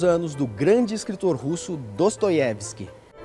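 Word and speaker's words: Достоевский: Eu cresci com Dostoiévski, mas na verdade é Dostoiévski que se fala, né? É porque em russo o O só é pronunciado assim quando ele é acentuado. Quando ele é átono, ele é A, então é Dostoiévski.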